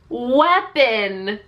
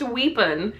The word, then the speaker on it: weapon: So I was like, oh, weapon. And she was like, no, it's pronounced weepon. And I was like, nope, it's definitely pronounced weapon.